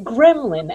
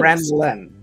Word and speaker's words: ghrelin: Because I heard you say gremlin as in little ifs. Ghrelin.